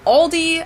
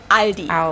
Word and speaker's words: Aldi: for very low prices in English people usually pronounce this Aldi I think I've also heard Aldi before but I think most people say Aldi or they also sometimes add an s that isn't there in the end and say alies in